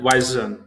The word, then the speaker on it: zwischen: This is how you have to pronounce that, zwischen.